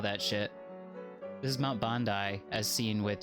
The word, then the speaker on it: Bandai: Bandai, actually, if you're pronouncing it entirely correctly. And if we're typing that out in Japanese... Whoa. Bandai-san. That's the one. Yeah, it is Bandai, like the video game company, like Namco Bandai.